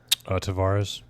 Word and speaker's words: Tavares: Tavares.